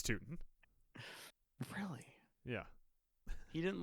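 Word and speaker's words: Tuten: Adam, I will have you know that I'm pretty sure it's pronounced Bishal Tutton. Is it Tootin? It's Tootin.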